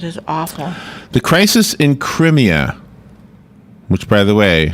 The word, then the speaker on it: Crimea: awful the crisis in crimeia which by the way I was told it's pronounced Crimea uh-huh Crimea like Crimea River uh-huh is that wrong